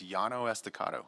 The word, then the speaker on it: Llano Estacado: to mess up the name of this, the pronunciation of the street. I'll bail you out if you want. Please do, sir. It's Llano Estacado.